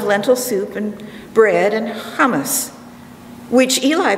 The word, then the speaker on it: hummus: soup and bread and hummus which eli pronounces properly as humus like his friends in jerusalem where he lives in